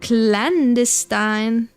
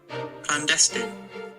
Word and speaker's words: clandestine: How pronounce clandestine. Clandestine. I was wrong entirely. I thought because there is an E. I thought because there was an E, there would be a different pronunciation.